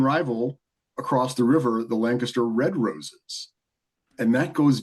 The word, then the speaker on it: Lancaster: I do appreciate, as a Pennsylvanian, how you are pronouncing Lancaster correctly. Lancaster.